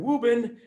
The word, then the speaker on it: Woburn: I grew up and the way we pronounce Woburn is Reuben and so in wobin you've got the Mike